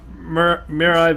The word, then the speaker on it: Mirai: I always pronounce Vegeta's name wrong, so can you pronounce it? Whose? Oh, Vegeta? Mirai Vegeta.